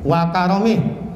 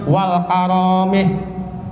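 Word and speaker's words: وكرمه: Ya bacanya enteng, wa karomih. Bukan wa, enggak ada alifnya, enggak ada, jangan. Karom, jud gitu. Birahmatillahi wa karomih. Jangan sampai udah ustazah bacanya wal karomih. Salah 2.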